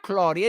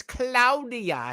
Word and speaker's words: Claudia: bomb Claudia it's Cloud it's pronounced Claudia it's not Claudia it's cloudia here in Meo and